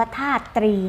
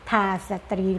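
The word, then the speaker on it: ธาตรี: ล่า ปัถพี ธรณี พิภพ ธาตุ ตรี อ่าน ว่า ถ้า ตรี นะ คะ ไม่ ใช่ ทา สตรี หรือ ถ้า สตรี นะ คะ อ่าน ว่า ถ้า ตรี ค่ะ อ่ะ มี คำ ว่า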